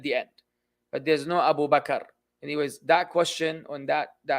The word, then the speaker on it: Abu Bakr: In the Arabic language, if you're continuing the sentence, it's definitely not Abu Bakr. That's out of the picture. If you continue in the sentence, tamam, then you will pronounce the diacritical signs at the end.